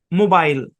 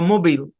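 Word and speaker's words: mobile: বি আই এল ই উচ্চারণ কি মোবাইল বা মোবিল দুটাই হয় মোবাইল ধরেন মোবাইল আর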